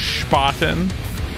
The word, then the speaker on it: Spaten: It's pronounced Spaten.